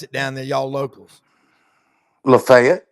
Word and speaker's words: Lafayette: How do How do you pronounce it down there, y'all? Locals. Lefayet. Lefayet.